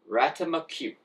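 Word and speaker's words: ratamacue: It is called Single Ratimacue. Single Ratimacue. And we're gonna own that. I pronounced it like that.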